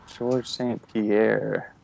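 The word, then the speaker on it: St-Pierre: here no no no no he's very famous UFC martial artists okay George st. Pierre no you have never heard from him no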